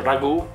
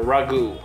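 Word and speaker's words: ragù: you cannot burn it actually we call it ragu because a ragu now you call it a ragout with an accent on top of the final you so ragu that's the right way to pronounce it so now we're gonna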